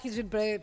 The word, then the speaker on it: Hirschfeld: Hirschfeld, periodista de ciencia. Pará, ¿cómo se pronuncia perfectamente tu apellido?